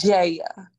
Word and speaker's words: Jaya: It's Jaya. Period. No Jaya. It's just Jaya. That's how we pronounce it.